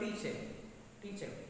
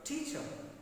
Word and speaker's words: teacher: we pronounce this word teacher. But after you learn this word stress, you may pronounce this word teacher. He is my teacher. See, extra force is used in first syllable in the word teacher.